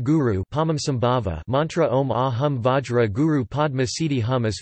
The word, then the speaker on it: Vajra: Like most Sanskritic mantras in Tibet, the Tibetan pronunciation demonstrates dialectic variation and is generally Om Ahung Benza Guru Pema Siddhi Hung.